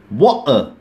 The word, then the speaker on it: water: อ ก เ สี ย ง ว่ า water water ก็ คื อ ตั ด ที ทิ้